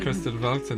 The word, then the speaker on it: Kristallwelten: Kristallwelten, yeah, I think that's probably how you say it. You have to put an accent on when you say it, just to make it sound like correct.